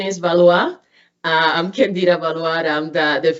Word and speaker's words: Valois: So the pronunciation is Valois.